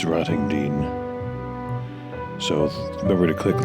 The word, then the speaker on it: Rottingdean: I had various pronunciations of that name in the video. It's Rottingdean.